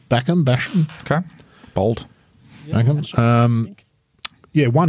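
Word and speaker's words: Bachem: He's the defending champion, Nick Backham, I think it would be pronounced, B-A-C-H-E-M, from Germany. Backham.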